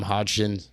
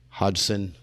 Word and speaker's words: Hodgson: joined here today with Adam Hodgkin Hodgson sorry I butchered that everybody always does that